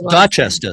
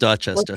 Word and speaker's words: Dorchester: Dorchester. Very close. Dchester. It's pronounced Dchester.